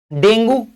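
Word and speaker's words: dengue: Okay, डेंगू जिसको हम डेंगी भी कहते हैं, इसको हम क्या कह सकते हैं, कुछ लोग कहते हैं डेंगू, कुछ लोग कहते हैं डेंगी, ठीक है, कुछ भी बोल सकते हैं।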